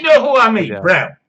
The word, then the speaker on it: Braun: Brawn. And they're called Brawn by themselves. I've seen adverts on Eurosport. In English Eurosport, the advert pronounces it Brawn.